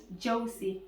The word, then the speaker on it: Joecy: Joecy. Joecy. Yes. Yes, it's a very unique name. I don't think I've met anybody who And has it's that name. simple, just 2 syllables.